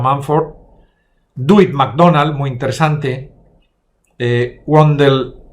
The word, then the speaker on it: Mumford: También Marshall McLuhan, también Louis Mumford, pronunciado Mumford, Dewitt MacDonald, muy interesante,